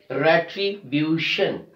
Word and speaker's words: retribution: Similarly, we have another word, retribution. We are stressing on the second last syllable, B-U, retribution, retribution.